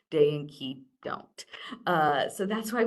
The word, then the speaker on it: Cay: So, back in the 80s, we purchased this little island called Little Stirup Key, spelled C A Y, because that's how you pronounce pronounce that word. It's not K, it's key.